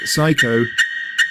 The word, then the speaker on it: psycho: Don't say the P in receipt, cupboard, raspberry, coup. Words starting PS like psycho or words starting PN like pneumatic.